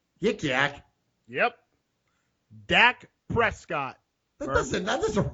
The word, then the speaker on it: Dak: hint no Rich Canon his name rhymes with Yik Yak Yik Yak yep Dak Prescott that doesn't that